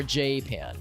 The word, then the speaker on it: Japan: time so they called they would pronounce themselves as japa j-pod I think or jpan like apprentiation emphasis on the on the